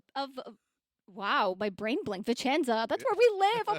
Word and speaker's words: Vicenza: So people mispronounce that a lot. So if any of you out there say I'm going to say it wrong first, and it's going to hurt like me. I know how you're going to say it. It's going to hurt me so much. If you say Vincenza, ouch, it hurts.